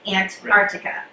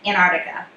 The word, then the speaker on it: Antarctica: just say antarctica like antarctica yeah and so they don't pronounce that t and i was like